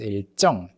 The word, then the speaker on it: 일정: And then 일 plus 정, although it's written as 일 plus 정, but the real in the first syllable of the word affects the 지읒 and it becomes 일정.